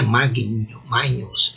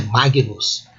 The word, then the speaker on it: magnus: A consoante palatal existe em italiano, em português. São consoantes formadas por um processo de palatização do latim para o português. Mas em português, em latim, não existe. Então não é G, não é Regina, é Regina, não é Nhe, não é Magnus, é Magnus.